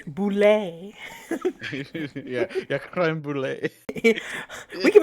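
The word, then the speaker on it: bulette: Boulet. It's not French. It's not boulette. My one It's a true boulet.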